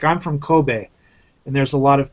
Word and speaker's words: Kobe: in the military, and they'll say Kobe, like Kobe beef, you know? Yes. And they don't understand that BE isn't pronounced B, it's be, you know, because B is BI, you know, Kobe.